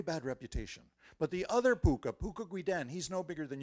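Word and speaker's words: pooka: They're called pukas. And depending on where you are, it's spelled P-O-O-K-A or P-U-K-K-H-A or P-U-K-H-A. But however you spell it, it's pronounced puka.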